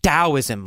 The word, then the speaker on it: Taoism: So it's spelled with a T, but pronounced as a D.